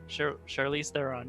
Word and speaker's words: Charlize Theron: basically about uh charisse how do you say her name sharice theron charlie theron charlize theron yeah she's the main character